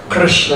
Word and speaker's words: Krishna: difficult to say because you have K made by the back of the throat, and then Ra, with the tongue up, Ra, and then Na. Krishna, it's a very crooked word, like Krishna himself.